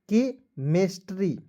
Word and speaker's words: chemistry: देखिए यहाँ पे CH का उच्चारण क के रूप में कीजिएगा। ठीक है, और ई से एक की मात्रा KMISTRY, तो मेस्ट्री, के मेस्ट्री।